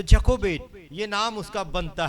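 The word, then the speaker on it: Jochebed: Kobe य को बेद और उसका अंग्रेजी में स्पेलिंग बनता है जे ओ सी एच ई बी ई डी तो जको बेट यह नाम उसका बनता है और फिरौन ने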